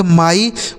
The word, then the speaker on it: my: ठीक है, next word है MY, इसे क्या पढ़ते हैं, M से हो जाता है माँ और Y का उच्चारण I, इसे पढ़ेंगे माई।